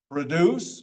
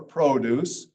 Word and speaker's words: produce: Then we have dance, face, force, ice, introduce, once, produce or produce. Produce is a verb, produce is a noun.